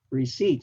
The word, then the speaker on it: receipt: the uh my answer receipt we already seen that the p is silent our and Court are